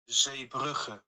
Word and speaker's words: Zeebrugge: So it is pronounced Zeebrugge.